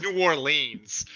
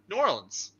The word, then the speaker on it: New Orleans: really from here okay how do you say it New Orleans New Orleans almost almost one almost one word but just like the slightest little space in between nuance uh Jenna or